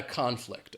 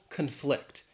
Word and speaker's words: conflict: The two colleagues had a conflict, all right? They had some kind of fight that they had to work out. Or if it's the verb, the stress is on the second syllable, conflict.